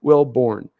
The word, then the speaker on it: Wilborne: realized this on time you say my name wrong oh I do I it's it's wilborne oh dude I'm so sorry bro will Bourne will Bourne okay I know I get once I'll get it right my get right it'll probably take me a couple times to get it to get it exact but I'll get it will Bourne will Bourne like Jason Bourne I I can pronounce